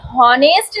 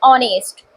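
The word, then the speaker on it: honest: इनका प्रोनाउंसिएशन जब हम कर रहे हैं तो यहाँ पे इसको एच जरूर बना है लेकिन हॉनेस्ट नहीं बोलते हैं, इसका प्रोनाउंसिएशन होता है ऑनेस्ट।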